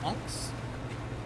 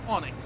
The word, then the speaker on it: onyx: as the debt of anx. It's the debt of onyx technically. Young me learned somehow to pronounce it Onyx and I have never recovered.